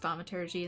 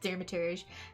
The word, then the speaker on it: Thaumaturgy: So we have completed Thaumaturgy, and yes, I know it's pronounced Thaumaturgy instead of Thermaturge.